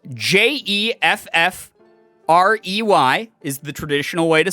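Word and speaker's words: Geoffrey: but then some times jeffrey is spelled g-e-o which insinuates that the sound g-e-o makes would make the same sound as j-e not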